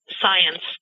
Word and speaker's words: Psience: just called science yeah science because you know when we talk about Psy PSI activity the p is silent the term Psy has been around forever I've only seen science maybe one or two